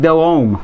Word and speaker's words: Delhomme: Jake Delhomme. Got it! Jake Delhomme, there you go. Delhomme, and I like St.